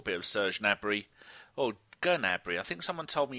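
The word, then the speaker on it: Gnabry: of Serge nry or gabry I think someone told me you do pronounce the G in ger when you say it in German yeah you do all right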